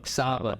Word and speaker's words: Saba: I don't know if I'm pronouncing that name wrong. Saba.